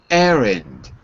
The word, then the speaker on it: errand: Erand. Now you good. If you say it fast, you don't hear the D at the end. Okay. I'm going to run an errand. We don't really say the D.